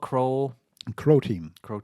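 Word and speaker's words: Croteam: Crow Team. Rhymes with Bro Team. Crow because of Croatian.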